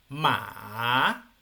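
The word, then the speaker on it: 马: curvo Por qué Porque su pronunciación es un una pronunciación que baja y luego asciende no entonces tono tres ma sonaría lo voy a pronunciar yo má una vez más má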